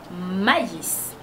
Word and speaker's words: maïs: ça veut dire que le tréma sépare de voyelles qui ve montrre que la voyelle qui a le tréma et ben on va on va prononcer cette voyelle séparément sur la première phrase il y a pas de TR alors c'est mais mais sur la deuxème phrase c'est ma maïs un autre exemple normalement